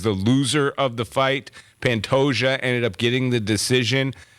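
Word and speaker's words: Pantoja: event Moreno versus pantosia pantosia is how you pronounce it we were way off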